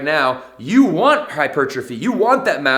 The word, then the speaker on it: hypertrophy: fitness nerds out there, hypertrophy. I used to say it like that. We can't never say that word the right way when we first get started in the industry, but it's hypertrophy for all of my professionals out there as well.